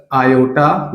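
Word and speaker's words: iota: जैसे मैंने लिखा a प्लस आयोटा b, ये आई जो है इसको आयोटा प्रोनाउंस करते हैं, आयोटा बोलते हैं।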